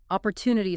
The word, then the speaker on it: opportunity: Opportunity stress that third syllable opportunity.